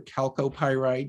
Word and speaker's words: chalcopyrite: well here's fluorite with chalcopyrite or calcopyrite you can pronounce it from the famous annaberg